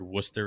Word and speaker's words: Worcester: Franchy has been playing some first base at AAA Worcester, and that was just my opportunity to get the word Worcester in there and pronounce it correctly while hitting pretty good in this class.